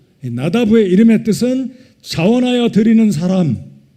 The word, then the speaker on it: 나답: 나답, 히브리 발음으로 나다브의 이름의 뜻은 자원하여 드리는 사람, 자원하여 드리는 예물이라는 이름을 가지고 있습니다.